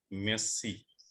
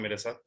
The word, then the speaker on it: merci: हो सकता है आपको फ्रांस जाना पड़े, तो फ्रेंच में थैंक यू को बोलेंगे मेसी। मेसी। किसको सीखना है मेरे साथ? रेज हैंड कीजिए। इसको प्रोनाउंसिएशन सिखाता हूँ मेसी का। रजनीकांत, किसी को और को चांस दीजिए। रजनीकांत। मुक्ति दवे। मुक्ति दवे। यस सर। ये फ्रेंच वर्ड है, MERCI, तो ये मेरसी भी नहीं है, इसको बोलेंगे मेसी।